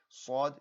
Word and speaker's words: ص: Sod should be a very full mouth sound, sod, whereas scene should be an empty mouth sound.